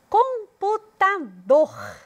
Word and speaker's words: computador: falei com mais força computador odor é a sílaba que eu destaco ao pronunciar hipopótamo hipopótamo é onde tem